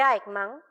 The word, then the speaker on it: Eichmann: Como en el caso de Eichmann, me dicen mis colegas que así se pronuncia, no hay maldad entendida como odio, como fanatismo o maldad en un sentido radical.